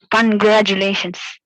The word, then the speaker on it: congratulations: Just look at the penultimate syllable. Let all the other syllables be in the same tone, but just stress, emphasize on the penultimate syllable. How will you do it? Yes, Aryan. Congratulations. There I could hear the stress on two. That is 1, 2, third syllable. I want to stress on the fourth syllable.